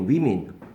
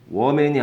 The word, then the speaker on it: women: 그래서 얘는 발음이 뭐였냐? women이에요, women. woman이 아니고 women.